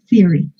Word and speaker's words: theory: This one, you don't pronounce the O, theory.